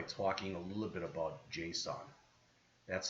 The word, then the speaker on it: JSON: All right, this chapter ends by talking a little bit about JSON. That's how it's usually pronounced, not JSON, JSON.